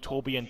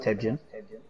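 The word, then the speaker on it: Torbjörn: Torbjorn 2. No, it's actually pronounced Tebjorn.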